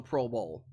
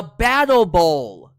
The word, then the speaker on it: Battle Bowl: actually is called the Pro Bowl did I say it right battle bro the battle Bowl thank you not the